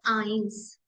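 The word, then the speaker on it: eins: बोलते हैं नल नल नल वन को हम प्रोनाउंस करेंगे आइंस आइंस आइंस same to स्वाय स्वाय three dry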